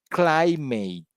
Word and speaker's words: climate: like for example in the word climate you know clay is bigger than mate yeah on geography you